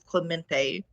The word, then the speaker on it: Clemente: did want to say you was pronouncing that my name right brad it is clemente oh you're a clemente